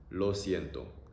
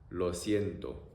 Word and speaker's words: lo siento: Lo siento. Lo siento.